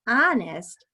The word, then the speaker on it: honest: That's a good guess, but honest starts with a silent H."